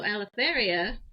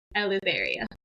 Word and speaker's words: Eleutheria: So in Greek, it's actually the EU actually makes an F sound. So Eleutheria is how you're technically